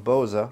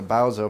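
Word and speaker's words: Bauza: enough to answer me so it is Antoine Boza and I'm glad I asked him because I of those weird people pronouncing a Bowa forever and I'm glad I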